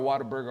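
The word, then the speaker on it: Whataburger: It's like water.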